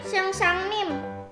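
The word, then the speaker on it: 선생님: Ah, seng seng nim, sang sang nim, seng sang nim. Gitu bacanya.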